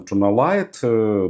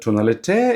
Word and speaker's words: Tonalite: even without personalization tunal always want to call them tunalite but company said that it should pronounce more like on French manner and tunal Even without this personalization